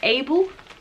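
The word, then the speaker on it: AYBL: How do you pronounce? It's A-Y-B-L, Able.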